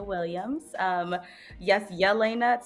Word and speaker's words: Jahlaina: viewers my name is Elena Williams um yes Yelena spelled with the J um means God's bright